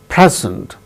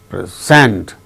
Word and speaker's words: present: is used as noun the first syllable gains stress record second syllable gains stress when it is